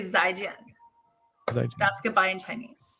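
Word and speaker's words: 再见: I will say Zaijian. Zaijian. That's goodbye in Chinese. Oh, okay. Zaijian.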